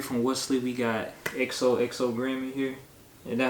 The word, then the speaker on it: XOXO Grim: We got XOXO Grim in here.